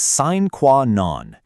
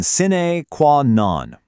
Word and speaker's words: sine qua non: Okay, our next phrase is sine qua non. Let's try that one, sine qua non.